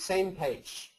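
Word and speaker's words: SMPAG: is called Ian and the other one is pronounced same page this was coined by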